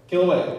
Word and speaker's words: Kilauea: in hawaii how do you say that one killaway okay kilauea all right exactly all right that one started erupting january 3rd 1983 and went to september 4 2018.